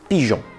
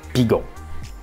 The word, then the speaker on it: pigeon: Ou on va aussi le retrouver dans pigeon, où on a ressenti le besoin de mettre un E muet devant le on pour pas faire pigon.